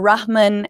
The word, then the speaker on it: Aamer Rahman: show we've got comedian amma rahman or rahman as i was corrected in pronouncing his name and i'm gonna get that h out there um also foreign policy